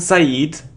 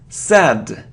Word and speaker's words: sad: It isn't Said, it's sad, sad.